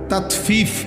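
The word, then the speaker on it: تطفيف: তাতফিফ শব্দের অর্থ হল তাতফিফ বাংলা শব্দটা বুঝছেননি উচ্চারণটা ত আকার তা তত ফ দীর্ঘিকার ফি ফিফ এই তাতফি এই হল শব্দটা।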